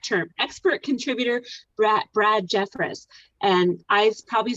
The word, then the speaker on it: Jeffress: i love that term expert contributor bra brad jeffress and i probably said your name wrong right brad you said it exactly right